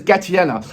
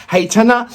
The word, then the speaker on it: Гайтана: pronouncing her name right in english is pronounced as gatiena but if you're gonna go to and pronounce it the right way in um in ukraine is so there's a massive um difference in the um pronunciation heitana in um ukraine or gatiana um in english the song is called